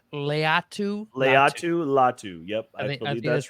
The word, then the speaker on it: Latu: Latu. I think it's Leatu.